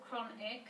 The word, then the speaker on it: chronic: it's really bad syllables chronic there's two spelling well I've got a cuff there which looks like a chug but I know that it's occurred like in Christmas and choir and then connected words